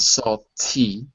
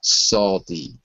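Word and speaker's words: salty: soy s s good notice that I say s d not Sal T because I'm American right no no T's in American English they're all D's Sal D for me sorry uh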